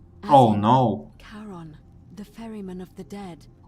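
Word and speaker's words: Charon: Only your pronunciation is a little off. The name you heard wasn't Karen. It was C H A R O N. Oh no. Karon, the fairyman of the dead.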